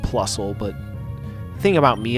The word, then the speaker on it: Plusle: Oh yeah, Plusly? I think technically it's pronounced Plusle, but the thing about me is that I don't really give a shit, so...